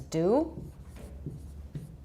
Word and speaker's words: dew: that D again mm-hmm in American it's just do and it sounds the same as do in British it's pronounced as not T sorry I don't have to go to D here and British it's pronounced jus all right so nobody